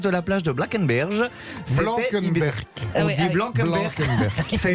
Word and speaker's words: Blankenberge: Blankenberg. On dit Blankenberg. Ça a été mon stress toute la nuit. Comment on prononce ça?